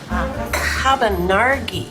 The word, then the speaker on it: Cabonargi: It sounds like a wine. Cabonargi.